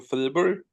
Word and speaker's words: Fribourg: How do you say it? Yeah, Fribourg. Fribourg. Yeah, that's like the French one, right?